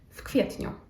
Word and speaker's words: w kwietniu: If it makes it easy for you, you can try just to say the F instead of the V sound at the beginning. W kwietniu. And the last example.